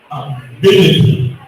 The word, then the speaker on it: ability: Also, words ending with TY. The stress is always on the third last syllable, like ability, little, 2 syllables.